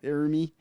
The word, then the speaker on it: Ermey: I think there's a thing where Lee Ermey, he's talking about how, is that how you say it? Lee Ermey, yeah. Ermey.